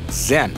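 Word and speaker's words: 甄: Kanton dalam dialek Beijing Nama belakangnya diucapkan Zen dan Yen adalah pengucapan Kanton ayah dari keluarga tersebut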